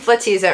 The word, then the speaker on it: Flatizza: I was saying Flatizza earlier. Right. I was corrected. It's Flatizza. You have to be sure to pronounce the flat.